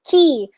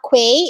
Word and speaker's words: quay: i think she only got it incorrectly in key q-u-a-e is not pronounced as way it's pronounced as key as